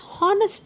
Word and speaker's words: honest: image an apple an honest man and how you can say why H and is used in front of H so in these words Hest and hard the letter H is silent so these words speak